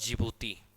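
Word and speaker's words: Djibouti: में बच्चों यमन और जीभूति देश का नाम है की उसके आगे दी लगता है दी साइलेंट होता है एशिया का देश और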